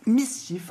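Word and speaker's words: MSCHF: intégré dans le réel il s'appelle Miss chif en tout cas ça s'écrit msch HF et eux vous le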